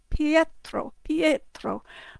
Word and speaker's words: Pietro: It's more like in Pietro, but it sounds a bit like a yay. It has the kind of yay sound because they don't have a letter Y in Italian.